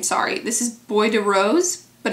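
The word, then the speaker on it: Bois de Rose: name sorry this is Boy de Rose but it's Bo i s De Rose boy I know I'm pretty sure you don't pronounce the S but it's Bo the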